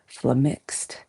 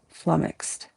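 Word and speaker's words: flummoxed: try a last time, I'd say flamixed and try not to put emphasis on either syllable if possible. Flummixed.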